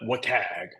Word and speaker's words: WCAG: Okay, so we're going to go through this a little bit more, but these are the foundation of I've heard it pronounced different ways, but wag, right?